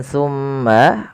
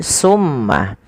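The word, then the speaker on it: ثم: lafal bacaan tumutum ketika kita melafalkan tumma usahakan kita menahan suara mimnya tumma dan harus hati-hati di dalam melafalkan tsa jangan sampai huruf tsa ini Terganti dengan huruf Sin maka misalkan terdengar bunyi Summa nah ini maka dia berubah menggantikan antara tsa dan SU Sin ya maka dia akan berubah maknanya hati-hati teman-teman Bagaimana cara melafalkan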